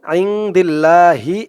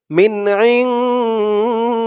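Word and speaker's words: مِنْ عِنْدِ اللَّهِ: খানা জবর লাদি he reading বলার সময় আইদিল্লাহি এমন উচ্চারণ হবে না এই জিম চিহ্ন হতে অক্ষ করার কারণে উচ্চারণ হবে মিন ইনদিল্লাহ লামের উপরে খাড়া জবর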